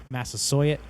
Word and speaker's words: Massasoit: chief of the time massasoi massasoit i believe is the pronunciation um that's what massachusetts